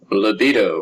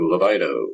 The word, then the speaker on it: libido: behavior sometimes sexual behavior libido or libido whichever way you prefer to pronounce that it is the motivation